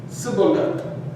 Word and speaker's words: Shibboleth: side of the Jordan, would have naturally pronounced the shin, the shin, as if it were a sin, or a, as you can see here, or a samach.